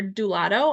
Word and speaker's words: Doulado: So we, like we mentioned, we are Doulado. I know it's spelled doula do, which is a very common misconception, but ultimately, it rhymes with gelato.